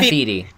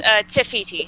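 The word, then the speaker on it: Te Fiti: Nefertiti. Nefertiti. No, it's Tefiti. Tefiti, my bad.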